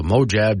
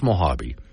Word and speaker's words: Mojave: say the desert tortoises uh King of the mojab desert I know it's Mojave but I always get EX see I'm reading